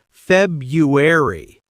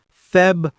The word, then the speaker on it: February: I always hear people say February, but it's February. Practice that slowly. February.